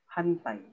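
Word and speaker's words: はんたい: Mapupronounce natin yung as N. Hantay.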